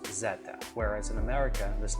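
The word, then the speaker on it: zeta: from the greek alphabet and the symbol is pronounced zetta whereas in america this letter is pronounced z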